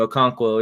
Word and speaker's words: Okonkwo: We don't know how to pronounce the guy's name. Okonkwo. That's his name, Okonkwo.